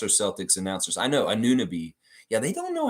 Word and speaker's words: Anunoby: Mike said, I actually heard Anunoby the other day from the Bucks or Celtics announcers. I know, Anunoby.